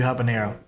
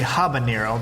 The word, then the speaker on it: habanero: So in English, you say habanero because we actually pronounce the H, the letter H. But in Spanish, you would say habanero. You don't pronounce H as it's silent essentially.